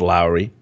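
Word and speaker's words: Loury: to uh Glenn uh I think it's pronounced Lowry what he had to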